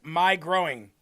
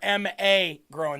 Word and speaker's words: McGrowin: Deb said, "Jeremy, the the McGrowins are pronounced my growing. You've been missing that for years." Nope. I understood that since day one. Some of them are ma growing though.